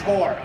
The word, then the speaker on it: torque: When I say torque, it sounds like I'm saying T-A-L-K. What I'm saying is torque. I have to say it like a pirate.